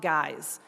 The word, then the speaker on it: guise: take on the tough guys. Guys here is spelled G-U-I-S-E, like disguise.